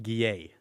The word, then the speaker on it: Guillet: We both know Pierre, Gilliet? How do you say his last name? Guillet. I can't say that. Very French.